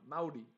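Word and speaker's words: Māori: uh part of uh that's not maori is uh maori now you're gonna really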